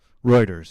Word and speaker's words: Reuters: State Department talking points how you pronounce that reuters yeah that's correct some new every day right what do you think it was Reuters like roto-rooter oh I just never never